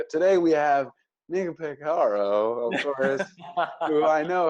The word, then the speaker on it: Peciaro: to make it the hard C, because, you know, CI is cha. I was sweating. My palms were sweating. Yeah. I said, today we have Nico Peciaro, of course, who I know how to pronounce his name.